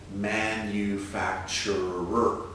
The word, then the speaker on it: manufacturer: action in our sentence to include this final r and make sure it's five clear distinct syllables manufacturer then we know that